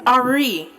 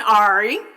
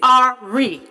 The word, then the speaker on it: Ari: Her name is Ari, not the typical white version, Ari. It's Ari, like India Ari.